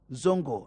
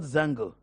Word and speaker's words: zongo: Please pronounce the word zongo, not zango.